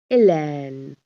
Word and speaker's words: Hélène: Hélène. Now H is silent.